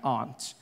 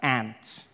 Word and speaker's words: aunt: For instance, I pronounce the opposites of uncle as aunt. I say my aunt. Out here, you say my aunt. which to me is an insect, which made me look